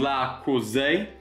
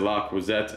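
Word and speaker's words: Le Creuset: Then I did pick up some La Cousée. I know you guys beat me up on the last time I said La Croisette and pronounced the T, but in really good condition here.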